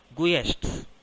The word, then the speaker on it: guests: It is not guests or guests. It is guests. Now tell me, what is the silent letter here?